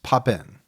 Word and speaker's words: Papin: We've heard it a few ways. Heard it three or four different ways. What we've settled on is papen. Yes. That's the way I've heard it pronounced the most.